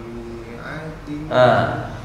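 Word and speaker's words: مائة: Kalau panjang itu bukan kasroh diikuti alif, tapi fathah diikuti alif. Lalu kenapa ada alifnya Ustaz? Gitu kan membacanya. Memang tulisannya begini. Nah, udah menjadi SOP kalimat mi'ah. Mi'ah tulisannya begini. Maknya ada apa namanya? Ada alif di belakangnya. Mi'atin sinin, tapi itu bukan dibaca panjang.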